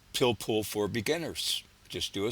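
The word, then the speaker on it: pilpul: But it's its uh counterpart uh amongst Jews is known as pillpool and that's spelled P I L P U L. Pillpool.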